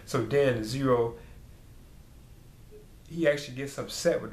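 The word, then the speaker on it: Xero: emperor I I guess zero is but it has like an X's name is spelled with an x-e-r-o so I think it's these are zero or something like that he's supposedly made a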